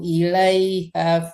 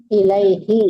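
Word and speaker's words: إليه: Ta'rujul malaikatu warruhu ilaiha fi yaumin kana min. Ilaihi ya, bukan ha.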